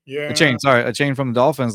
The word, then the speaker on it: Achane: I think they were talking about I can't mispronounce the name. Akaney from the Dolphins. Oh, Devin Achane? Yeah. Achane from the Dolphins.